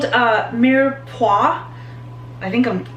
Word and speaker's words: mirepoix: It's called mirepoix. I think I'm pronouncing correctly. It's mirepoix.